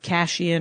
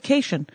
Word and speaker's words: Cation: My sister, Darla Cation, who pronounces her name in a way that many people want to pronounce my name, which is with Cashian or Kashian, or she ethnics it up. I don't know why. Our dad always said Cation.